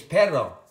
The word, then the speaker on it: perro: We also have the double R, which is pronounced R. So we have R and R, okay? P-E-R-O is perro. That means butt. Perro with a double R means dog.